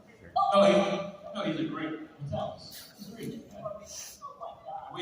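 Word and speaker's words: Matalas: Metalis. No, he's a great Metalis. He's a great man. We have, even though he's not here with us this weekend, He's busy. we're very grateful to Terry Metalis.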